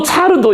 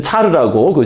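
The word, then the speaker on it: царь: 또 차르도 이게 시저 아니에요, 시저. 시저를 러시아식으로 발음한 거거든요.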